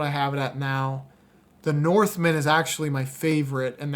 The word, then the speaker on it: The Northman: numbers you Dad man North man not Norse North that's just my no it's not my you just mispronounced it my Mumble mouth the